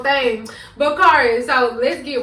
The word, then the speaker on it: Kharis: Kharis. I think it's like a mind thing. They want me to just like say the wrong thing. But Kharis, so let's get right into it.